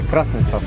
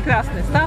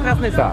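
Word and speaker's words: Krasnystaw: mi osobiście akurat właśnie Krasny Staw to się kojarzył, to też się dowiedziałem, żeby właśnie dobrze wymawiać, że Krasny Staw razem. Razem, tak. Nie Krasny Staw, tylko Krasny Staw.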